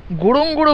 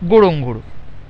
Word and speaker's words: Ngorongoro: গোড়ং গোড়ো বলছে উচ্চারণের সময়, কিন্তু বানান লিখছে NGORONGORO গোড়ং গোড়ো। সোয়াহিলি ভাষার উচ্চারণে প্রথম অক্ষর যেখানে সেখানে লোপাট হয়ে যাচ্ছে, যেন তারা বেওয়ারিশ।